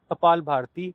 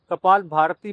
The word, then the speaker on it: कपालभाति: कपालभाति का सही उच्चारण कपालभाति होता है, परंतु कई बार हम आवेशवश कपाल भारती बोल जाते हैं।